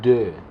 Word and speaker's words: deux: Para decir dos, en francés se dice deux. El sonido de la E y la U es como entre una O y una E. Deux.